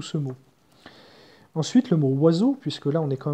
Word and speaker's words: oiseau: la langue des oiseaux, il est constitué, ce mot, de cinq voyelles dont aucune se prononce. C'est-à-dire, O et I font wa et E, A, U font O.